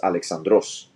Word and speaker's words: Alexandros: So it stayed Alexandros with an accent on the O. So my name ends in ROS. So it's Alexandros.